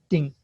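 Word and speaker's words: 丁: uh at the bottom okay by itself it's pronounced ding okay uh is an image of a nail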